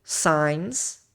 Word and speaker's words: signs: foquei no essencial Vital signs ok signs aqui vocês meio que ignoram esse G tá Vital sign sinais